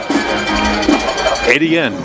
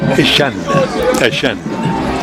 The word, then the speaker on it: Etienne: big brother Travis, and they pronounce it Etienne up there. But in Jennings and in South Louisiana, it's pronounced Trevor Ashan. You can say that. When he got when Big Brother got to Clemson, everybody just picked up and just saying Etienne.